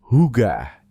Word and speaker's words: hygge: Diucapkan, hygge, ini adalah rasa nyaman yang muncul saat segalanya terasa tepat.